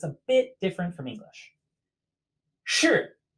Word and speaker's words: 是: Its pronunciation is shi. Shi. So that same initial as shang above, sh, with like the ending of r, sun. Shi.